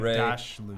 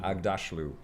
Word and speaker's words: Aghdashloo: Shohreh Aghdashloo. Aghdashloo. Fantastic. Aghdashloo.